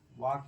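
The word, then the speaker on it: walk: For example W ए एल के वाक पढ़ा जाएगा। एल साइलेंट क्या बन जाएगी?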